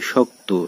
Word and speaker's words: শক্ত: ঠিক একইভাবে শক্ত, শক্ত এখানে একটি যুক্ত কয়ত যুক্ত ব্যঞ্জন রয়েছে তো এর সঙ্গে একটু অ রয়েছে এই অয়ের উচ্চারণ হচ্ছে ওয়ের মতো।